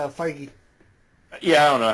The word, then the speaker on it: Feige: your comics and everything, and even like Kevin Feige, who works for Marvel, is like, dude, I was looking forward to Suicide Squad. Kevin, to really, Feige. Gotta be that. What was guy. that? It's Feige.